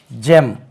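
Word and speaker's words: gem: க என்று உச்சரிக்க வேண்டும் then again G இ எம் ஜெம் this is ஜெம் இதை நமக்கு தெரியாம இருந்தா ஃபர்ஸ்ட் டைம் வந்தா நம்ம கெம் என்று சொல்லுவோம் சொல்லுவோம் அது வந்து ஜெம் ஜெம் give ஜெம் right then comes க ஜென்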